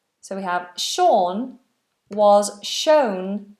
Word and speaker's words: Sean: have another name Sean Sean that uses quite a difficult long vowel or Sean it's quite far back in the mouth Sean if you are